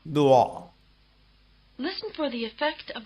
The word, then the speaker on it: 落: The combination WO or UO is pronounced rather like the beginning of the English word wall.